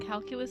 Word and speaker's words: calculus: Latin for co would be calculus lignum lignum calculus lignum calculus like the math c a l